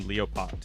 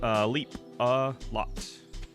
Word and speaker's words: Leapalot: I pronounced your name Leopot. Is that correct? Nope. Leapalot. As if there were 3 words, like leaping.